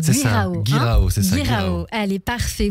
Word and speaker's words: Guirao: Si c'est comme ça que ça se prononce, Guirao. Guirao, c'est ça.